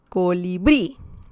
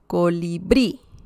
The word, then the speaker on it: colibrí: Essentially, this is the last syllable. Sorry about that. And I believe this too, this is the last syllable, subió. Colibrí. Okay? So we have an accent mark because colibrí ends in I.